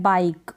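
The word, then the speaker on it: bike: एंड में तो ई को आप प्रोनाउंस नहीं करेंगे।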